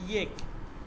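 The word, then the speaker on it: ایک: এখানে ইয়েক, আমি কিন্তু এক বলি নাই, উর্দুতে উচ্চারণটা হবে ইয়েক।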